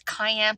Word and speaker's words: cayenne: The canine, we're going to put canine pepper in the soup. Canine, it was cayenne pepper, and you're all trying to tell me how to say it on camera.